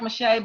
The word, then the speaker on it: Meche't: Instagram on my website you see how my name is spelled it doesn't look like mache but I guarantee you it is yes thank you listen